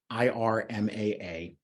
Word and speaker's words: IRMAA: is probably familiar with the acronym irmaa typically pronounced Irma which is an income